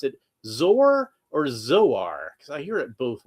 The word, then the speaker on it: Zor: Do you pronounce it zor or zor? Because I hear it both ways. I usually say zor like it rhymes with sore because that's how I interpret it because zor soarses through the air.